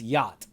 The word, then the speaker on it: yacht: name yachting yachting yep I hate that word because it's spelled yakt but it's yacht and so yachting sounds